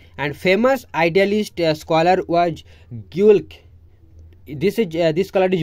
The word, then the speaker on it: Guelke: Right, and famous idealist scholar was Geulke. This is this colour is very very important, काफ़ी बार पूछ चुका है। गोल्क और ग्योल्क कैसे भी आप प्रोनाउंस कीजिए, मैं आपको स्पेलिंग बता देती हूँ।